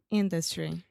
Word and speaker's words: industry: me I'd like to Industry yeah so industry distress is first on the first syllable industry and the second syllable is the schwa but for some reason Trump puts the stress on the schwa which never happens in